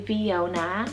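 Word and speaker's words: Veona: men viona spelt v e o n a viona this one's derived from the italian place name meaning true image delphia spell it d-e-l-p-h-i-a delphia this one's greek rooted meaning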